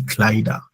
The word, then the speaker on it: Kleider: Then plural is die Kleider. The Kleider. Whenever a noun ends, and I'm saying like a word ends with er, we go for a. The ar is pronounced as a.